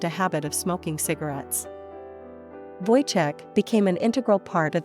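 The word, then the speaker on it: Wojtek: join their ranks they named him voichek pronounced boy Tech they cared for him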